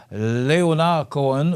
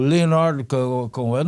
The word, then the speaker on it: Leonard Cohen: Et on se souvient du décès en 2016, un 7 novembre, Leonard Cohen, ou Leonard Cohen, on peut le prononcer en français ou en anglais.